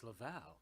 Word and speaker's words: LaVal: Everybody LaVal, wants to say LaVal, me included. And why? You know what? LaVal? It sounds sexier, LaVal. LaVal. Yeah. But it's LaVal. LaVal, South County Outreach.